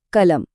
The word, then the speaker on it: कलम: शब्द है कलम। जरा ध्यान दीजिए, हम इसे बोलते कैसे हैं? क लम। हम कलम नहीं कहते।